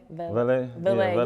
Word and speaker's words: Valee: Now, do people compare you and I don't want to mispronounce it, Valee? Valee, yeah.